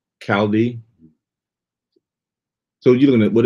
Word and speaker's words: Chaldee: It's not Chaldee, it's actually Chaldee. The CH is like character. It's pronounced Chaldee. Chaldee.